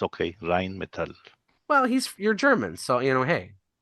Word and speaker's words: Rheinmetall: But across the top, it says System Exa, and then you'll see Rheinmetall. I don't know how to pronounce it.